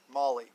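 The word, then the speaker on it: MOLLE: that is your modular lightweight load carrying equipment Molly mo l le and that's how you properly pronounce it also with Molly MRE meal ready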